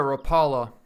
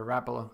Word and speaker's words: Rapala: bit funny when you call it a Rapala instead of a Rapallo they actually pronounce it like rap rap all what I mean everyone has